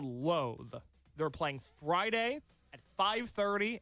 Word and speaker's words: Loathe: spell that quick? Yes, I can. Loathe. I'll do it spelling bee style. Loathe. L O A T H E.